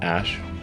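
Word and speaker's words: Æ: And then the AE is like pronounced ash.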